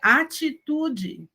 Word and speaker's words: atitude: Só muda quando a gente tiver o T e o I ou o T e o E. E também quando o E, a letra E, a vogal E, está no final da palavra. Se está no final da palavra, o E vira I, a maioria dos falantes do português brasileiro. Então, a palavra seria atitude.